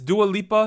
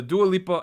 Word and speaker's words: Dua Lipa: So I think it's Dua Lipa. Is that how I pronounce that?